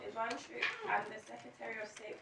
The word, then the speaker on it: Jwanczuk: I must apologise, I hadn't realised quickly enough that this is a case where the J is pronounced as an I. It's Jwanczuk.